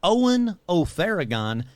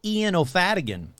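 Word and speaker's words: Eoin Ó Faodhagáin: That's right, I said Eoin O Faodhagain, not how I've been pronouncing it for so many episodes, Eoin O Faodhagain.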